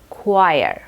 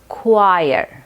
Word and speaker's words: choir: अगला वर्ड है choir। यहाँ पे CHOI ये सब मिल के एक खुआ साउंड बनाते हैं। choir, choir। ये भी बहुत सारे लोग मिस प्रोनाउंस करते हैं।